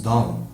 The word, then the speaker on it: don't: O do, junto com not, nós pronunciamos don't. D-O-N apóstrofe T. E normalmente quando nós já vem o verbo depois aqui, o T do don't, ele deve ficar mudo, tá bom?